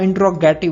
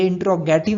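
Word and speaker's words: interrogative: Next word है प्रश्नवाचक, जिसको हम इंट्रोगेटिव बोलते हैं, तो ये इंट्रोगेटिव नहीं होता है। उसका सही प्रोनाउंसिएशन होगा इंट्रोगेटिव।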